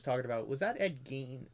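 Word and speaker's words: Gein: said ed you know he said the last name wrong it was ed gain as far as from what i've heard it's gain not you know whatever he said but yeah that reddit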